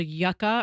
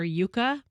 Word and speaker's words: Yuka: that I'm obsessed with now and it's called Yucca or Yuka and so you can point it how do you spell it y-u-k-a Yucca yes and you can point it on any